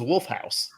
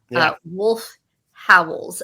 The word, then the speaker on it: Wolf Howls: It is spelled WOLF space HOWLS. Yeah. Not Wolf House. Wolf Howls.